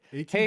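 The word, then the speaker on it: Hej: No, it's H EJ. They spell it weird. Hey. Hey.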